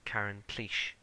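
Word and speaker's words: Karen Cliche: I like Karen Cleach, as that apparently is how to pronounce her name.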